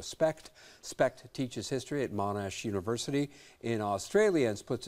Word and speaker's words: Monash: Specht teaches history at Monash University in Australia and splits his time between Melbourne and South Bend, Indiana. Did I pronounce the name of the university in Australia correctly? Oh, yes. Monash?